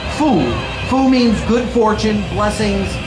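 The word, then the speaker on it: 福: men's t-shirts today is the character that is pronounced fu fu means good fortune blessings and happiness China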